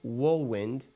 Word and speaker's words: Wohlwend: And on today's show, we have WOHLWEND. Did I pronounce that right?